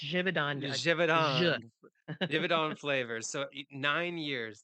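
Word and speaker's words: Givaudan: you help me jivon it's Swiss it's jivon jivon divid on flavors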